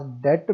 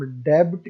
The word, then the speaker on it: debt: अब आप ये देख लें कि डेट के स्पेलिंग क्या है, DEBT, और बी हमारे पास साइलेंट है। अगर हम डेब्ट कहेंगे तो ये हमारे पास लफ्ज गलत होगा।